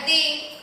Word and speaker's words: the: membacanya the sama oldest itu the-nya dibaca di. Kenapa? Karena yang dihadapi kata sifatnya itu diawali dengan huruf hidup A, I, U, E, O. Jadi pengucapannya the berubah menjadi the oldest. Ya, seperti itu. Makanya itu alasannya Bu Yanti tadi mengucapkan dengan kata di bukan the. Paham?